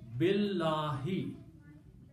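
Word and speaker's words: بِاللَّهِ: And then you pronounce them together, so you do not pronounce this alif here. Pronounce billahi.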